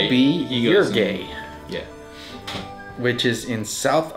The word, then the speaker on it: Uruguay: And that Yeah, will be he goes in- Uruguay, Yeah. which is in South America. Okay. Actually, it's pronounced Uruguay.